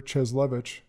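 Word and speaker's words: Cieslewicz: And then worked as deputy mayor under Mayor Cheslevich, if I pronounced that correct.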